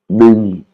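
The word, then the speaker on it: หนึ่ง: Ning, hein, ning, qui veut dire un, hein, parce qu'on a la voyelle ça la E. Et là, il est en vert, hein, donc c'est une intonation qui descend ning.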